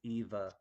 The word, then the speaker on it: Ewa: evil wanda eva yeah ewa and and polish i guess is is pronounced as a v so it's eva i will donate my